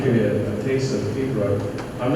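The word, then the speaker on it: piobaireachd: By the way, pibroch is spelled P-I-O-B-A-I-R-E-A-C-H-E. Well, here's what I know about Gaelic. You don't pronounce it the way it looks.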